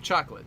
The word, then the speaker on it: chocolat: Apparently, some kid is the king of chocolate, so that's all I can get. What do you remember about Madeline? He's the king of chocolate. I'm sorry, not chocolate, chocolat. you gotta pronounce all the syllables.